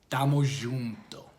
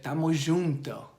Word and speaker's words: tamo junto: represents this culture, is the phrase Damo junto, right? It's spelled T-A-M-O. That's the first word.